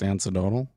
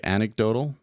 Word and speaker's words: anecdotal: using you're saying that it's not pronounced antidotal you want you want me to say anecdotal well it sounds like the internet says that it's pronounced anecdotal he doesn't say what